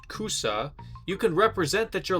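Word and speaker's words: 草: And so if you use the Japanese kanji for grass pronounced cusa, you can represent that you're laughing.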